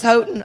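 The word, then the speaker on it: Houghton: I think it is h o u g h t o n not sure I'm pronouncing it right with a Southern accident might be hooton or something I'm not sure but any it is hooton all right see I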